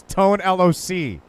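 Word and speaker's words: Tone Lōc: He hate me his grit and says, hey, Tone LOC, you did great, are you okay? We've been saying it wrong, he hate me. It's Tone LOC. Now I get it. Kind of like TLC. So look, he has a dirty work quote, that Dr.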